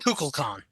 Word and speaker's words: Kukulkan: How are we pronouncing this so I can get it right? Kukulkan. Kukulkan.